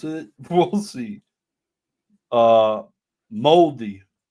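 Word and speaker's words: mouldy: Uh, Moldi Moldi is how you pronounce it. Pronounced moldy or moldi. He was moldy last night. Moldy. Moldy. He was moldy last night. I'll spell it for you. M O U L D Y.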